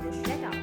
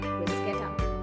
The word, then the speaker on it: bruschetta: Whenever we order this at Costco, we always pronounce it as bruschetta and no one ever corrected us. For the record, it's bruschetta with a hard CS sound.